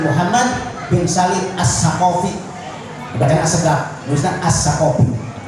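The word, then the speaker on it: السقاف: bin Salim As-Saqafi, dibacakan As-Sagaf, nulisnya As-Saqafi, dibacakan As-Sagaf, nulisnya As-Saqafi. Ustaz terpaham Ahmad bin Muhammad bin Salim As-Saqafi. Kalau As-Sagaf dibacanya As-Sagaf. Beliau dalam kitab Tamratus Syadidah fi Masalil Mufidah bahwa ahkamul jamaah itu sab'atun.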